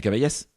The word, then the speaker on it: Cavaillès: recevoir à Rennes Cavaillès. Bonjour. Salut, ça va bien ? Ça va bien, ouais. Ouais, on dit bien Cavaillès ? Absolument. On prononce bien le S à la fin.